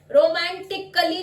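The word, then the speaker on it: romantically: ए silent हो गया। Next रोमांटिकली, रोमांटिकली नहीं बोलेंगे, अ का साउंड साइलेंट हो जाएगा।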